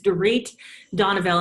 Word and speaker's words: Dorit Donoviel: Houston Texas and I'll start by correcting my pronunciation of my name is to reach Donna Bell and it's okay everybody slaughters it so it's